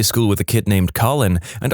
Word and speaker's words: Colin: Conversely, I went to high school with a kid named Colin, and our physics teacher constantly pronounced it colon.